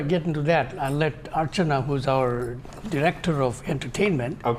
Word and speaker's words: Archana: It's actually Archana, but you are close.